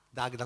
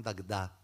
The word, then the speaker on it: Dagda: Dagda, con l'accento sulla prima e non Dagda alla francese.